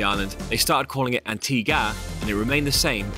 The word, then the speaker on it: Antigua: Our tour guide began by explaining that the reason the island's name is pronounced Antigua rather than Antigua is that although Christopher Columbus named the island after a Spanish church, so it was originally called Antigua, once the British colonized